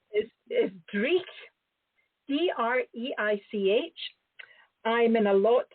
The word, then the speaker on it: Dreich: another Scottish word here, so you'll like my pronunciation. The publisher's name is Dreich, D-R-E-I-C-H.